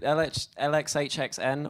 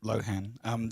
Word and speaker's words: LXHXN: Is it LXHXN or? No, you just pronounce it Lohan. The X's are there to stop people with legal interests finding it on Google.